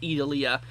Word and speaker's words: Idalia: I think it's pronounced Idalia.